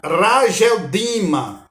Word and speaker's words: Akeldama: Em aramaico, pronuncia Rageldima, né? Rageldima significa campo de sangue.